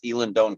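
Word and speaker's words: Eilean Donan: That's one of the ones I pronounced right because I was corrected. It's Elandone Castle.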